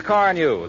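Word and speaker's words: Carnu: By the way, Johnson's Car New is spelled C-A-R-N-U.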